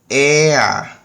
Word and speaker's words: er: Ele, que é er, a gente pode pronunciar o R aqui como ea, ok? Então, no alemão, toda terminação de ER vai ficar como fosse um A, certo?